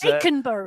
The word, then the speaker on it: Eikeberg: The current fastest time up to the top of the climb of the Eikeberg, or if you were to pronounce it correctly, as Eikeberg. It is Eikeberg, but we are doing